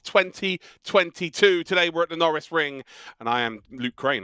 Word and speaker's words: Norisring: norris ring which uh i'm never quite sure how to pronounce it but i'm pretty sure that's it well during last year's dtm trophy i was told in the chat many a time it's like lando norris so we actually called it the lando norris ring of the year so that's how i would pronounce it norris ring it is one of